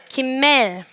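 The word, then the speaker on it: גימל: 따라해 볼까요 김맨 김멜 한번 더 김맨 김멜 뭐 김엘이라고도 발음을 하기도 합니다네 김멜의 발음은 첫 번째가 기억이니까 그 베이트 아니고요 그라고 발음을 합니다 그 이미지는 뭐 같으세요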